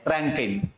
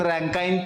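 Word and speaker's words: Rankine: आणि चौथी कोणती आहे रकेन बरोबर रकीन रकाईन काही म्हणा ठीक आहे प्रोनन्सिएशन मध्ये फरक पडतो काही ठिकाणी रँकिन आहे काही ठिकाणी रँकाईन पण आहे.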